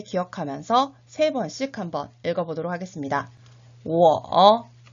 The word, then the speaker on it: 我: 그렇다면 1인칭의 나 어떻게 발음했었나요? 맞습니다. 워라고 표현을 했었죠. 2인칭의 너, 니, 3인칭의 그 또는 그녀는 발음이 같았었죠. 타라고 읽었었죠. 자, 이 3가지를 머릿속에 기억하면서 3번씩 한번 읽어보도록 하겠습니다. 我, 니, 타.